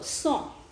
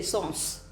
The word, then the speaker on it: sans: So sans. Sans, S-A-N-S is the spelling of it in English, and it's pronounced as son. And probably those who are not very much acquainted with the language would say sons, SAS sons.